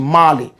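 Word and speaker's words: Molly: They call it Marley, M-O-L-L-Y. Marley, but we say Marley. Jamaican pronunciation, Marley.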